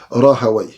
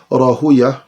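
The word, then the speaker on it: راهويه: Les savants de la langue arabe disent Rahaway, comme ils disent Sibaway. Les savants du hadith disent Rahuya, comme ils disent aussi Sibouya. Mais c'est juste une différence de prononciation, mais il s'agit ici de la même personne.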